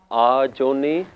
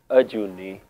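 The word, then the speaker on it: ਅਜੂਨੀ: Sometimes we hear people pronouncing it as Ajooni, Ajooni, like there's supposed to be a kanna there, but there isn't, so we don't pronounce it Ajooni, it's Ajooni. So just to be mindful there, sometimes we pronounce it with an extra kanna which isn't there.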